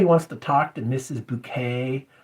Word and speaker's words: Bucket: fat lady named Mrs bouquet but her name her name is spelled bu U ke T Bucket so the mailman's like